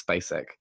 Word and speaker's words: Spacek: I found out how to say it. It's Spacek.